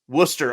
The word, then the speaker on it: Worcester: you say wer how do you say wer Worcester okay so like in M like in Massachusetts